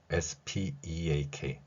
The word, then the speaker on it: speak: SPEAK. 한국인들은 이 단어를 무조건 이렇게 발음합니다. speak.